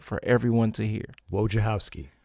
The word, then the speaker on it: Wojciechowski: Let's give it up for we call him Wojo, and I'll let him pronounce his name because I want him to get it right for everyone to hear. Wojciechowski. Wojciechowski, that's right.